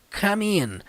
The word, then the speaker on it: come in: Então, gente, ó, embora essa palavra seja escrita com come, né? Nós pronunciamos em inglês come. E na hora que junta com a preposição in, fica como? Come in.